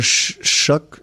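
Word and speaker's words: Shough: I The thing about Tyler Shuck. I never I'll never say his name right. What is it? How do you say it? Shuck. Shuck. Like shucks.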